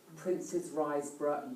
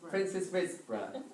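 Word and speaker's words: Princes Risborough: And which, oh, I tell you what, Princess Riseborough, you can choose the bow.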